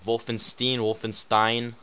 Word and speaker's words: Wolfenstein: Wolfenstein.